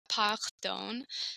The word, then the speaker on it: pardon: confused on the word in English pardon in Spanish it's Peron but in French it's parone so to me I